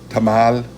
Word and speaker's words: tamal: like um like uh Tamal which means tamale in English tamale you it ends in a l you pronounce this you stress the final syllable of those words all right okay now